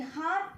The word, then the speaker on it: heart: In heart also R is silent.